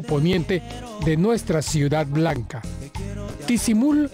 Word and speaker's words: Ticimul: de nuestra ciudad Blanca tisul se escribe con c aunque los pobladores mayas lo pronuncian como tiquimul o sea con k es una población de